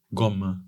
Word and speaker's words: Gaume: llama el monseñor monseñor gom gom se escribe gaume No gaume sí se